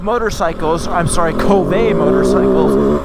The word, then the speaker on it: Kove: beautiful right now now Cove motorcycles I'm sorry Kobe motorcycles I don't know why they call it covet when it's spelled k-o-v-e maybe they're trying to